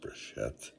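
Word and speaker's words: בראשית: If we take the Bible, the first words in the Bible is, I believe it's pronounced Breshet, which means in the beginning.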